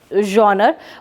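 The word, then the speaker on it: genre: So that pronunciation is जॉनर.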